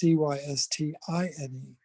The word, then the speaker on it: cystine: And cysteine is spelled Cysteine, and cysteine is without that first E, it's Cystine.